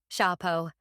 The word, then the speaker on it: chapeau: Duncan pronounced the words differently than I would have. Chapeau. That means hat in French.